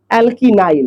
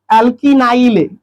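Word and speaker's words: alkenyl: ALK last का ENYL, एल्कीनाइल। क्या पढ़ेंगे, एल्कीनाइल, इनाइल उच्चारण होना चाहिए लास्ट का, ENYL, ENYL, एल्कीनाइल, एल्कीनाइल।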